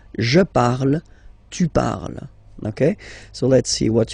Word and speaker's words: parles: You write them differently, of course, because you've got here, and then you've got and s, okay, but then phonetically they are the same. Je parle, tu parles, okay?